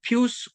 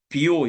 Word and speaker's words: 비오: 이때 등장한 유명한 교황이 바로 어 피우스 구세. 요즘은 피우스라고 하지 않고 비오 이렇게 말하는데요. 예. 참 쉽지 않아요. 이걸 영어식 발음이 피오스 구세고요. 또 이게 아마 그 라틴어 발음으로 하면 비오 이렇게 되나 봐요.이 사람이 일을 하기 시작한 때가 46년이고 78년까지 했습니다.